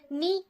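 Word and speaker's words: knee: Half, half का भी L letter silent है। नी का के लेटर साइलेंट है और जज का डी लेटर साइलेंट है, और ऑनेस्ट का एच साइलेंट।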